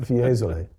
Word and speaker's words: Fiesole: Fiesole.